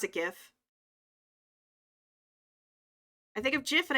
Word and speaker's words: GIF: Oh, like GIF is a hard G as opposed to JIF. I'm with you on that. I pronounce it GIF.